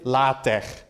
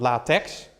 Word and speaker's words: LaTeX: so getting started with La Tech and I say La Tech for a reason that's because it's not latex there's a slight difference in pronunciation there's also a slight difference